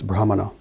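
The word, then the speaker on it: ब्राह्मण: It's not brahman. It's brahmana.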